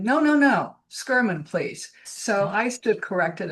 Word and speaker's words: Schurman: because her last name is Flemish. It's not German. Oh, So you would pronounce it Anna Maria van Schurman, Schurman, rather than Sherman.